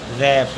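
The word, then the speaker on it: wrap: पढ़ेंगे रिंकल अगला है डब्लू आर ए पी आर से पहले डबल इसलिए पढ़ेंगे रैप अगला है डब्लू आर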